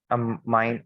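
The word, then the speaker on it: ammine: it is I'm in I'm mine or whatever you can say pronunciation is quite similar but the spelling is different okay it is it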